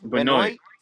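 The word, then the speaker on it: Benoist: Benoit.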